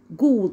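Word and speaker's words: ghoul: طب وليها اصوات تاني برضو الجي والاتش لو جت معايا في اول الكلمه بنطقها ازن ج، زي كلمه ايه؟ جوست اللي هي معناها شبح. وكلمه غول اللي هي جول الجي والاتش مره لو جت في اول الكلام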